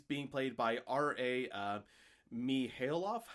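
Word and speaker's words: Mihailoff: played by R.A uh me Hale off I think you say his name yes um so yeah mahalov yes that I can't well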